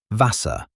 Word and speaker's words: Wasser: For example, the letter W, Wasser, which in English means water. The W sounds like an English V, and the German V